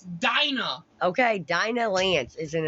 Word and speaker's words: Dinah: It's not Delilah. God damn. That's how it's spelled. It's Dinah.